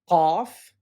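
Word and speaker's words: ق: Qaf is represented by the letter Q, and it sounds like a K, except it's more throaty. So it is actually closer to the pronunciation of the letter Q.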